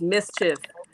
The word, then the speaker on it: MSCHF: So now he has partnered with I don't know the gentleman's formal name, but his nickname is Mischief, and it's MSCHF, all spelled with no vowels.